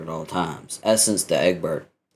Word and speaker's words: Egbert: Essence to Egbert. Egbert? What? No, like the French pronunciation.